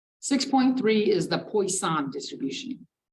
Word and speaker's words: Poisson: It looks like poison, but it's some French shit. It's pronounced Poisson. 6.3 is the Poisson distribution.